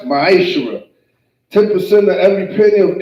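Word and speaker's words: מעשר: You can find this in Numbers 18 verse 21 and Malachi chapter 3 verse 8 through 10, which means 10th in Hebrew and is pronounced ma'ashera.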